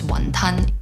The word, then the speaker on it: wonton: Wontons, from the Cantonese pronunciation, which is wonton.